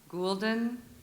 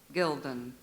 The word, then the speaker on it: gulden: Alternate pronunciations. Gulden, Gilden. Gilden.